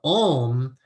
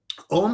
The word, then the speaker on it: Om: Om is 3 syllables. It's A-U-M.